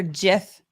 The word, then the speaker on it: GIF: we've got another another GIF uh Super Chat um Graphics interchange format say graphic say Graphics it's not giraffic uh inventor is smart